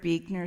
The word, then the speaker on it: Buechner: I'd say Frederick Buechner is my favorite living theologian, but it's B-U-E-C-H-N-E-R, but it's pronounced Buechner.